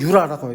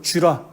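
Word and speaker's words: Jura: 그 다음에 또 그 옆에 쥐라, 독일어는 유라라고 해요. 제이는 유 발음이니까 유라, 불어니까 쥐라 이렇게 썼나 봅니다.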